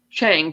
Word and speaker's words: Chang: assert man servant uh chang pronounced cha is actually played by